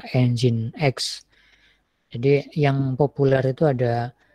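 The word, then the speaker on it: nginx: Jo atau enjen XC atau mungkin orang bacanya dongeng itu tapi sebenarnya bacanya engine.exe jadi yang populer itu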